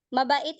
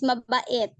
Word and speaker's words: mabait: Mabait is kind, right?